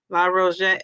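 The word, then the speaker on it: La Roche: So, the la rose or ro, how do you pronounce it? La ro. La ro.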